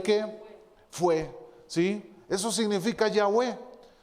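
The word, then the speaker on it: Yahweh: que no llevaba consonantes y se pronunciaba lo pronunciaban ya ve verdad ellos lo decían de esta manera de yagüe así pronunciaba en el nombre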